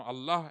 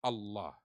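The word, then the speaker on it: الله: huh actual you know Allah actual word is alah and because it is difficult for Arab to pronounce alah so they you know they remove the AL if from between and it become Allah now what is the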